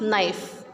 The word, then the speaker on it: knife: We will not pronounce K, we will just pronounce NIFE, knife.